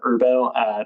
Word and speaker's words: IRBO: that capture this theme we have irbo we affectionately pronounce it herbo that is the ishares